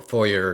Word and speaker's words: foyer: Jesus outside in the foyer, you know, um, or foyer, depending on how you say it. I'm from Canada, so we say foyer, the French French pronunciation, but um, and you